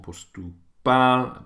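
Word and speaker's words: поступал: So on postupal, pal is where the stress is for universiteit.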